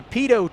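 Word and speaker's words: pitot: Aviation word of the day is the pedo tube it's spelled p t o t tube pedo tube and we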